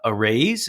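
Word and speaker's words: Araize: sponsor for the non-profit MBA uh podcast it's a raise it's spelled a-r-a-i-z-e fast fun online which is cloud-based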